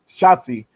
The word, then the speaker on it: Shotzi: Or again, I always pronounce it, not Chelsea, but Shotzi Blackheart.